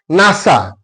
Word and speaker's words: NASA: NASA it is read it is not read or pronounced like N A S A it is read like a word that's why NASA it